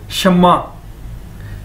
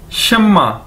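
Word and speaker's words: 什么: इसको प्रोनाउंस कैसे करेंगे, इसको बोलेंगे कैसे, शम्मा। जिस तरह के एक नाम भी है शम्मा। ठीक है, शम्मा शम्मा, इसको कैसे बोलेंगे, शम्मा।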